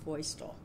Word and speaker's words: Feustel: thing the reception for drew is named actually pronounced feustel the astronaut that was just really neat too